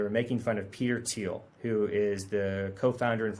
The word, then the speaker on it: Thiel: making fun of peter thiel who is the co-founder and former ceo of paypal billionaire a lot of your audience probably knows who he is his name's spelled t-h-i-e-l but it's pronounced teal and there's no evidence